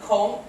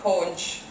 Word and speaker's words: conch: welcome Jane Milton um on Cayman they call it Con although they spell it conch which is just to confuse you but most other places they call it conch um you know those